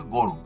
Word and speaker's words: গরু: 11, অ এর পরে যদি রস্যৌকার থাকে তবে ও এর মতো উচ্চারণ হবে। যেমন গয়ের সাথে একটি অ আছে, তারপর রস্যকার আছে এই জন্য এখানে অটা ও হয়েছে গরু।